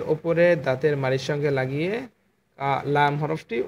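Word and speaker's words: لام: দাঁত আছে, এই যে এই দাঁতগুলোর গোড়ার সঙ্গে লাগিয়ে এই লাম মানে সামনের দুইটা দাঁত বাদে তার ডানের দাঁত দাঁতের এই গোড়ার সঙ্গে এইগুলোর সাথে লাগিয়ে লাম হরফটি উচ্চারণ করবেন।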